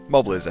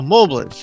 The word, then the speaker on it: Mobliz: Mobliz, actually. Oh, Mobliz. Okay. I was wondering how you pronounce that.